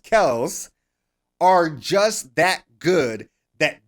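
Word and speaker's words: Kelce: and travis kells apparently his last name is not pronounced kelsey is pronounced kells are just that good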